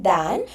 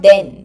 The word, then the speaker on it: than: Now here this THAN, than, is pronounced as than. Than. You will have to open your jaw. Just open your mouth. You make the use of your jaw. Than. It is not then, but than.